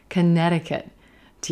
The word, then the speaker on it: Connecticut: Connecticut, Connecticut. Do you notice? There's a flap T in there. Dicket, dicket, Connecticut, Connecticut.